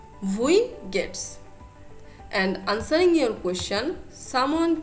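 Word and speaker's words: Wie geht's: you do remember that w will be pronounced like v vui gets and answering your question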